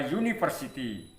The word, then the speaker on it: university: A university ya. Ini walaupun ini juga pakai a. Kenapa pakai a tidak pakai n? Padahal u itu huruf hidup karena membacanya university pakai y.